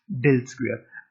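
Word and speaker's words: ∇²: Usually the operation del dot del is abbreviated del square and pronounced del square, a good reminder of the second order partial derivatives appearing in 5.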